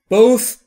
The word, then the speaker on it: both: هر دو دقت بکنید وقتی که تی اچ در انتهای بوث رو میخواید تلفظ بکنید زبونتون پشت یا زیر این ش دندون‌های بالا و سعی می‌کنید بگید س س سه سمیه بوت آ یعنی اینجا کسره